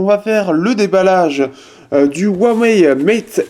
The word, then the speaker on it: Huawei: de premium on a Huawei ici donc il faut bien le prononcer Huawei c'est W ouais voilà c'est pour